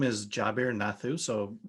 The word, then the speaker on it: Jabir: company name sure so so my name is jabir nathu so it's j a b i r